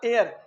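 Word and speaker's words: heir: ही हैड no legitimate हेयर, कोई हेयर उसका एयर H silent रहता है इसमें, कोई एयर उत्तराधिकारी उसका नहीं था।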